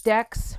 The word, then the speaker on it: Dex: name is also known as dex rhymes with sex and i am here